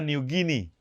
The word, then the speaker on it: New Guinea: Guinea ini yang juga digunakan untuk nama Papua Nugini New Guinea Idol bacanya Nugini karena ketika penjelajah Spanyol menumbuhkan Papua